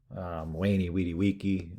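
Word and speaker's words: veni vidi vici: For example, Julius Caesar's Wani Widi Wiki, I came, I saw, I conquered. Kind of a mixture of the V and the U. Wani Widi Wiki.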